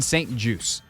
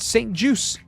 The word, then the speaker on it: St. Juste: name is said Benjamin Saint juice as in a juice box as an apple juice orange juice it is French Canadian